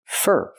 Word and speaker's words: for: We hear four pronounces fur fur because it's not a stressed word. For that for that not for that, but fur. Use the er sound like burger.